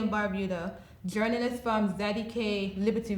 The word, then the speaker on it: Barbuda: Pronunciation Antigua, not Antigua. Antigua and Barbuda, not Barbuda. Barbuda.